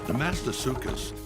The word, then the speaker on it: Desmatosuchus: sideways from above its shoulders how do you pronounce des maîtres such as in english the master circus the mast asuka's let's listen again the mast asuka's the mast